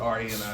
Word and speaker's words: Rani: A lot of people say it wrong. It's spelled R-A-N-I. It's Rani.